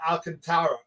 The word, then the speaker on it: Alcantara: What do we think of the Marlins starting Sandy Alcantara? Well, he's called Alcantara, although his name is spelled Alcantara, and that's how I pronounce it.